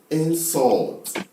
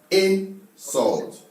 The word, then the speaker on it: insult: So now, if you're using this as a verb, the right pronunciation is insult, insult. But if you're using it as a noun, the right pronunciation is insult.